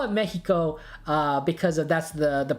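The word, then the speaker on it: México: Or at the very least, we learned the X is not pronounced that way in Latin America. So I call it Mexico because that's the pronunciation.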